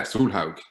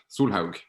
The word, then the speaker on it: Solhaug: But to pronounce it, yeah, Solhaug. Solhaug.